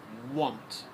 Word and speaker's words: want: On gives us on, want. So we have on and want. This is the pronunciation of the word want.